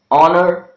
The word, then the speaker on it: honor: of the words honest honor honesty our and ear the letter H is silent sometimes when h occurs